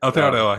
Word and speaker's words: Aotearoa: One thing with listening to like Thomas's podcast with the history of Aotearoa, um New Zealand. New Zealand, yeah. Uh did I even pronounce that right? Aotearoa, yeah, you did.